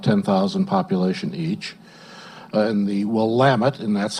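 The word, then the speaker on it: Willamette: small communities about 10,000 population each in the wamit and that's how you do pronounce it the wamt valley of Oregon we're about 45 minutes from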